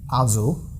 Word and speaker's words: Also: And also. Yeah, because the syllable is starting with the S, so it's a very soft buzzing S.